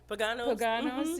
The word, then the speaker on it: Pagano's: Like, I need to get on the plane, go to Pagano's is one of the places. Did I say it right? Pagano's, yeah.